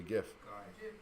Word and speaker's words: GIF: For example, how do you pronounce that word? It's obviously GIF.